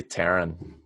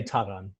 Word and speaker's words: Taran: Probably Terran at Phantasialand. Mm-hmm. I really want to get on Terran. Yeah. And I appreciate you saying Phantasialand, because that's how it's pronounced. But you need to say Taran.